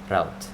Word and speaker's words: route: Route. Okay, I should pronounce roots and root to route, so we won't confuse it with the root path.